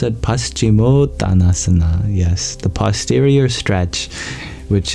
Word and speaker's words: Paschimottanasana: The first is the Paschimottanasana. Is that how I pronounce it? Paschimottanasana.